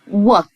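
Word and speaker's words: what: اول العنوان بتاعنا بيقول وات ادوات للاستفهام وات معناها ما او ماذا الدبل تقول الاتش سكوتي مش هننطقها وات ماذا ار ماذا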